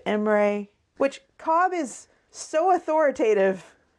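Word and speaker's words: Imre: about the story itself there's mispronunciations of names of cities Amory instead of emray which Cobb is so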